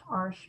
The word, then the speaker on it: Arches: arches but it's pronounced harsh because it's a french company and you need some